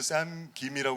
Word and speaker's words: 샘 김: 우리나라 그 성 김이니네 근데 자연스럽게 샘 하면 어 킴으로 갈 거 같은데 김으로 이렇게 발음해야 되니까 조금 신경 쓰게 발음을 하게 되는 거 같긴 해요 또